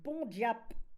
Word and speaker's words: bon diable: Bon diable, à l'époque, prononcé bon diap en patois, signifiait une personne gentille qui sait s'amuser.